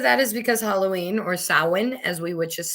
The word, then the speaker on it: Samhain: And most of that is because Halloween, or Samhain, as we witches say, is coming up. Yes, I know it is spelt as is you say Samhain, but it's not. It's Samhain.